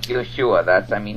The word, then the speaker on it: Yeshua: other words um like Yeshua that's I mean his name was Yeshua um it wasn't Yus